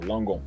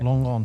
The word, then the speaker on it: Langon: I don't want to mispronounce it. Yourself of It's southeast of Bordeaux, Langon. Yeah. Langon.